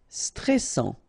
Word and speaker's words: stressant: Stressant, okay, final T not pronounced, and then A-N, stressant. Fort, final T not pronounced.